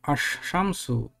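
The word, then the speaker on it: الشمس: shamsu means the Sun when we want to pronounce this word Ash shamsu then Islam is not pronouncing is directly is going to next word Ash shamsi the main the first letter of the main award is pronouncing twice so this scene is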